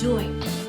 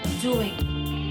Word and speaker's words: doing: pronounce this word as doing. Doing. The emphasis will always be on the N. And we will pronounce the G sound very softly.